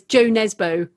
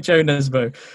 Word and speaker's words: Jo Nesbø: might also know him as Jo Nesbø. Yeah, and actually, to be fair to him, whenever he does an interview in English, that is how he pronounces his name. So yes, that's right, Jo Nesbø.